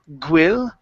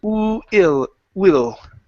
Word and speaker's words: will: So here instead of saying gwil, okay, you pronounce the G at the beginning, saying gwi. Instead of gwil, it's will.